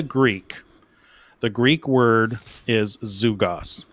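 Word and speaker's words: ζυγός: the Greek word is zugos it's spelled like this spelled like zygos but it's pronounced zugos and this is the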